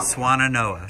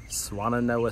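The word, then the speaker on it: Swannanoa: Swananoa, said yes. That 3 times. Swananoa, Swananoa, Swananoa.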